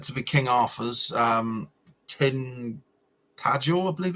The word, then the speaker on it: Tintagel: We've got the castle that's said to be King Arthur's, Tintagel, I believe it's pronounced.